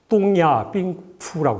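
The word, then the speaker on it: 东亚病夫: 뚱야 삥푸라고 해가지고 중국 발음으로는요.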